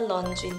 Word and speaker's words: Renjun: Oh iya, sama mirip kayak misalnya Renjun yang kemarin kan bacanya Lonjun. Jadi kayaknya emang Ren-nya Mandarin dibacanya Lon.